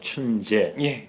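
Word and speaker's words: 春节: 봄춘자 쓰고 중국식 발음은 춘제 그렇게 말합니다.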